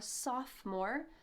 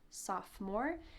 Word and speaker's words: sophomore: 10th Grade you're a sophomore notice that the O in the middle of this word is silent sophomore if you're in 11th